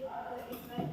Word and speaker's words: island: It is the island of Samosir. Okay. Island ya, bacanya island.